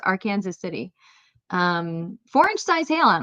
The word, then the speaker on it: Arkansas City: Kansas City is pronounced R Kansas City. Yes, that is the correct way to pronounce our Kansas City. It's not Arkansas City, it's R Kansas City.